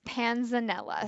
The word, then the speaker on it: panzanella: nephrologists all day long but how do we pronounce what we're going to learn how to make today so it's panzanella so panzanella is an italian bread salad it's